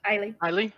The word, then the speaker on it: Aieli: I'll look over at is it Eel? How do you say your name, Jessica? How do Aieli? you Eileen.